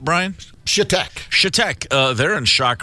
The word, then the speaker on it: Chetek: How is this pronounced, Brian? Chetek.